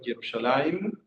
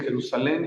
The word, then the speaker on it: Jerusalim: Quiero que sepan que Jerusalén en hebreo Jerusalim con M de memo al final. Eh, eso es otra cosa que simple pero profunda que hay que corregir. No se dice Jerusalén y no importa lo